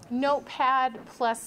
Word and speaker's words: Notepad++: Everyone go to your start menu and type in Notepad++, and it's not P, don't spell it out, it's the plus sign. Notepad++.